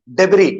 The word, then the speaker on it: debris: Obviously, S is silent, so we say debris.